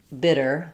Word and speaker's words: bitter: flap and the and if I had a word, for example, like bidder, someone who bids, that's going to be the same as bitter.